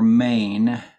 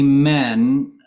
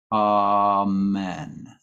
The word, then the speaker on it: amen: uh somebody's asking it is it pronounced men or mane um where are where are we looking here um um it should be men um some of the singers on The Rehearsal track pronounced it in Maine but I think it's really men amen so if you hear